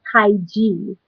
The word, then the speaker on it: Tige: It's actually Tige. Oh, Tige. Oh, Tige. Okay, Tige. Yeah. You see, there you go. I just got to put that little French accent on there.